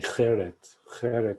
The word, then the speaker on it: Gerrit: Now, Gerrit Mellis, Gerrit is, by the way, spelled with a G. I guess in Dutch, the G has a ch sound. But, so his name's actually Gerrit Mellis.